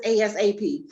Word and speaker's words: ASAP: because i was like it's not asp it's asap you know i was